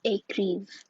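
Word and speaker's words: écrivent: For il and elle, it's écrive. You don't pronounce the ENT here as well.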